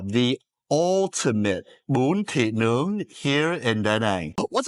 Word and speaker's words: bún thịt nướng: think about eating is Bum, tit, and nong. bún thịt nướng. Those aren't even Vietnamese words you just said, man. Phonetically, so you can remember, it's bum, tit, and nung.